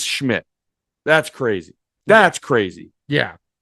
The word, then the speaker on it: Szmyt: It's literally just Schmidt.